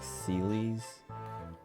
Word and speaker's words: Celes: I could also see it being like Celes. Celes. Because the Japanese is spelled Serisu.